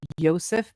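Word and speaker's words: Josef: created by Joseph, and actually I think it should be pronounced Joseph, because he was a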